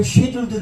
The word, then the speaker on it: schedule: 누가 점심 한번 먹자 그래도 내가 수요일 스케줄 한번 볼게. 스케줄이 영어로 발음표로 쉐줄도 된다. 쉐줄, 스케줄 SCHEDULE 찾으면은 쉐줄이라는 발음표가 있습니다.